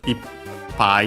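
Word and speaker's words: 一杯: Actually, originally pi and so this one with the the contractions like ichi pi that becomes ip pi with the doubling of the final consonant.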